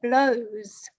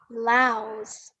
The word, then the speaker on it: blouse: You said she is wearing a blouse, but the correct pronunciation is blouse. Okay. Wow. So let's exactly, oh, perfect. You got it the first time, easy. So that's just it, blows, blouse. So blows like the wind blows, or versus the top.